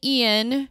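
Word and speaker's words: Iain: It is based on the book by, I'm going to say Ian. I'm going to agree with you. Okay, because it's not spelled like Ian's normally spelled. It's Ian. Okay.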